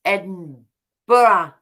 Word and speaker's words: Edinburgh: Edinburgh okay whatever and over here we say Edinburgh I'm sorry if I'm misspeaking no if if a spent Borough but it's pronounced Edinburgh okay I didn't mean to have that sound